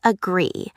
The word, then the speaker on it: agree: Let's start with agree. The stress is on the second syllable, so that should go in the second syllable column.